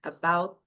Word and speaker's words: about: E aí ela fala, not only about my hair, about, você pode falar o t ou você finge que vai falar o t, mas você não solta o som, about.